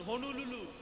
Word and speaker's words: হনুলুলু: উচ্চারণ ঠিক করে কর, হনুলুলু। সবগুলো ল নয়, একটা ন আছে।